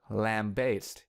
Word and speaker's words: lambaste: For the first syllable, lamb, we can use lamp, the animal, or lamp, the thing that generates light, as the substitute word. Now for the second syllable, bass, we can use bass,